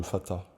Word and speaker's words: Fatih: Alors c'est pas les plus beaux, parce qu'ils habitent pas dans de beaux quartiers, c'est dans le Fatah, qui s'écrit Fatih.